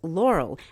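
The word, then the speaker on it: Loral: So, a group of three United States companies, NanoRax, United Launch Alliance, and Space Systems Laurel, that's spelled L O R A L, has now been contracted to examine whether building a recycled space station will work.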